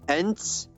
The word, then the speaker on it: Ent: Ents, you don't know fuck all about Ents.